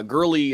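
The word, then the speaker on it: Goerli: torn there i think i think it's girly with a silent o girly testnet merge goes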